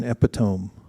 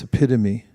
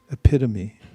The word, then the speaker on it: epitome: There is no such thing as an epiome. It's epitome. Mhm. It's just that everyone mis not everyone many people mispronounce it because of the way it looks.